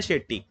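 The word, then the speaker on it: Chetty: अच्छा, ये जो है आपका लिखा ऐसे जाता है बट इसको प्रोनाउंस किया जाता है शेट्टी।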